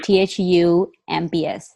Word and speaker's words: thumb: And how to pronounce the THU MBS sounds? Oh, thumb. Uh-huh. So What the is M is silent. I mean, the B is silent.